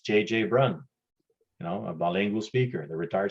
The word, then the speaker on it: Brun: I know my last name, Brun, is hard to pronounce. Brun in English is Brown. So quite often people will just say, Brown, because they can't pronounce Brun.